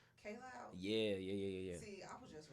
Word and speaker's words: Kaj Loud: And a disclaimer, and I'm not like completely opposed to people mispronouncing my name, but it's actually pronounced K Loud. K Loud.